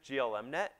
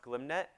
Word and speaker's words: glmnet: You might have pronounced it GLMNet. And I pronounced it that way for years until I got lunch with one of the authors, and he told me it was pronounced GlimNet, and a piece of my soul died.